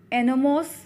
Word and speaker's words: enormous: दूसरा इसका आएगा एनोमोस, ENORMOUS, ENORMOUS, एनोमोस। बच्चों इसमें R साइलेंट है।